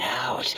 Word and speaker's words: O: IT'S O, AS IN O, LOOK WHAT I STEPPED IN.